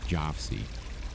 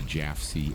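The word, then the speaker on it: Jafsie: He officially adopted the secret code name Jofsy, cleverly derived from the phonetic pronunciation of his initials, JFC. Operating under the Jafsy alias, the 72-year-old retired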